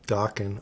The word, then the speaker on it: Dokken: This is coming from a guy who has Dokken on vinyl. Hell yeah. Rhymes with rocking.